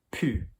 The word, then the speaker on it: pu: Okay, so our first group of irregulars, okay, are verbs which are going to end in the sound U, U.